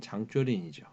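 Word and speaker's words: 張作霖: 대표적인 인물이 이제 그 동북 군벌이었던 장장님, 뭐 그 중국 발음으로는 장쪼린이죠.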